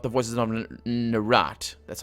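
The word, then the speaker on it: Nerat: I mean, certainly not the voices of Narat. That's how it's pronounced.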